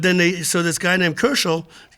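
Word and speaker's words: Köchel: But then so this guy named Koechel, Koechel, I believe you pronounce it with an umlaut, decided to catalog Mozart's music because there was so much of it.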